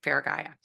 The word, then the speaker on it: Feragaia: and it will take you right to far faraya I said it right right faraya and um you did like yeah it's been